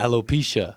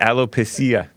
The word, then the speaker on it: alopecia: alopecia I would pizza how do you pronounce it it's a alopecia hello pizza and I always read it allo pasilla there's an album called